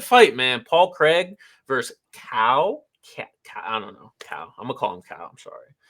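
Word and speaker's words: Caio: I think it's Chow, because I know Chow is spelled that way. It's not Chow. Yeah, I know Chow is spelled exactly like that. That's Italian. I was like, no, it's not. That's Italian. It's definitely like cow.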